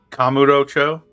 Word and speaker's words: Kamurocho: They definitely wanted the emphasis on that first syllable. I fucked it up so many times. Kamurocho? Kamurocho, yeah. They wanted that ka to be the emphasis. Kamurocho. Kamurocho. I normally would put it on like the row, like Kamurocho or Kamurocho.